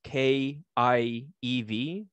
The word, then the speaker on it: Kiev: you spell Kiev as K-I-E-V. So here's the proper perspective. Kiev is how you say Kiev in Russian. In Ukrainian, you would say Kyiv.